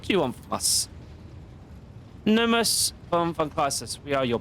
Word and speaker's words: Nomos: Nemos is glad. What is Nemos? Or Nomos, I should say. It's Nomos.